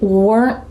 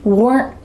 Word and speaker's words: weren't: In fast English, usually that final T is stopped short. We call this a stopped T. Listen carefully again. We weren't ready. My tongue is stopped at the top of my mouth. It's trying to make the T sound, but no air comes out.